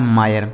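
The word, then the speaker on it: mire: तो यानी अगर किसी भी शब्द में दोस्तों आई लिखने के बाद लास्ट में आर ई लिखा हो तो इस आई का उच्चारण आय हो जाता है, ठीक है, लिखा है आय।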